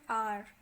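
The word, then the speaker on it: hour: सो यहाँ पर एन आर, H silent होता है आर में, सो वी आर using N. आ इज a vowel sound, सो इसलिए we will be using an before आर.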